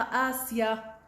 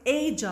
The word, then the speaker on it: Asia: إذا يا مس ننتبه، هاي مش تروحي تلفظوا لي إياها آسيا، أوكي؟ إيجا، ولكن هي إيش؟ إيجا، أوكي؟